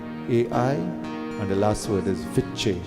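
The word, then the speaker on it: विच्चे: And the last word is Viche. Viche means to conquer. Vicche, but it's pronounced Viche.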